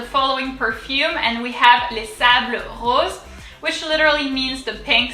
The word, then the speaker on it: Les Sables Roses: Les sables roses. So we've already seen this word. So here, the S is silent because it indicates plural.